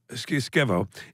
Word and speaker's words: Skevo: Keep, yeah, I would remember Skevo. What are you saying? Spell that's it.